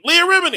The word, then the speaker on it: Leah Remini: leo romini leah remedy how are you pronouncing that lia remnant god damn it man it sounds like you're saying a remedy that's her name leah remini it's leah leah remini